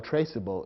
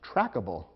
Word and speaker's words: traceable: the resulting word and if you eliminate the silent e from traceable the word might look as though it should be pronounced trackable which would be incorrect